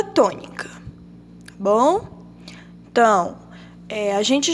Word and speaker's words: tônica: A palavra tônica. O tó está acentuada. Então, a gente já sabe que o tó aqui é a sílaba tônica.